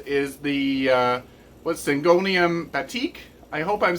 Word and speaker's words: batik: the uh what sangonium batik I hope I'm saying that right I was mispronouncing it before I think I was saying bad tick but I think it's batik uh and this one